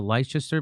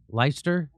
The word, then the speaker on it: Leicester: So the I forget how do they pronounce I thought it was called the Leicester, but I think it's just Leicester.